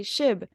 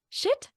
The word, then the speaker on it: Shib: I would say Shib. They're like, shit? No. Shib, like SHIB.